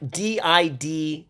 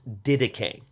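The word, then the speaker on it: Didache: important to in Christian history it's called the dedicate it's spelled like d-i-d-a-c-h-e so it sounds like it looks like it says didac but actually uh it is pronounced dedicate okay so this is a very very early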